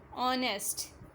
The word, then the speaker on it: honest: Business, profession, famous, popular, friends, companions, incidents, events, trustworthy, honest. H is silent here.